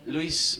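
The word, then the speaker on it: Lluís: My name is Luis.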